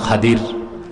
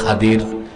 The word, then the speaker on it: খাদির: খাদির নাম বুঝেন নাই? আপনারা বলেন খিদির। কি বলেন? খিদির। আফসাহ শুদ্ধ উচ্চারণ কি? খাদির। আরবিতে খাদ্রুন, খুদরা বলা হয় সবুজকে। তিনি যেখানে বসতেন সব সবুজ হয়ে যেত, এই জন্য তার নাম খাদির।